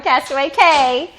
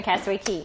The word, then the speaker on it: Castaway Cay: You're not going to Castaway Cay. You're going to Castaway Cay. Castaway Cay, that's how you say it.